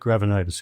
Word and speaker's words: Gravenites: The Nick Gravenites, or I'm not sure how you pronounce his name. Nick Gravenitis, yeah.